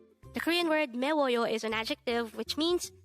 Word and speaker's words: 매워요: number 250 Meo Meo this is pronounced as a three syllable word the first syllable is me second syllable is w and third syllable is Yo pronounce it with me mayoo the Korean word meyo